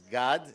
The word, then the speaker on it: Gad: me let me say how you supposed to properly pronounce it notwithstanding the very nice effort it's God it's a Hebrew name and side it's a guttural I am but of